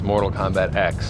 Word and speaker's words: Mortal Kombat X: How do you pronounce the name of the new game? The official title is X, Mortal Kombat X.